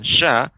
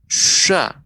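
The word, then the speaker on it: ش: yaitu huruf Sin Syekh ketika kita mengucapkan Sya maka udara itu ada di bagian bawah lidah ada bagian atas bagian samping kanan-kiri syaa karena dia sifatnya menyebar Syekh demikian syaa sih isues pengucapan huruf syin tidak boleh ya maunya bibir misalnya Syah syah ini kurang tepat ya seperti itu maka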